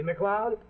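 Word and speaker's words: MacLeod: See, McLeod? Sounds like Cloud, but it's spelled M-A-C-L-E-O-D. Well, his is Bantry.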